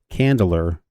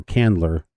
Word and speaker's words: Candler: It's like hand or land, but it's it's spelled c a n d. So, it's Candler or Candler uh which is in North Carolina.